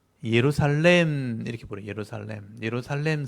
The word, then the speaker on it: 예루살렘: 예루살렘 성. 예루살렘이란 말도 제가 보여드릴 텐데 원래 예루샤렘이에요. 샤렘인데 우리 발음이 이제 샬렘 이렇게 샬롬에서 온 말이에요.